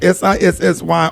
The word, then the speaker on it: SISI: The SISI, pronounced SISSY organization, it's really SISI organization, has a year-round campaign called Lift Your Pearls and Check Your Girls.